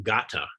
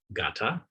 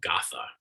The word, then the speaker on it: gatha: word i am saying gata is pronounced gata and it is spelled g-a-t-h-a gata it looks like it'd be pronounced gotha in standard midwestern english or crepes you know